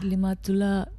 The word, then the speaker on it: Limatola: Limatola with TOLA, not TULA. Is it Limatola with TOLA?